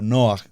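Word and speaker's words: נֹחַ: Por ejemplo, en el punto que estamos leyendo del verso 8 dice, pero Noaj, pronunciémoslo en hebreo, Noaj, halló gracia.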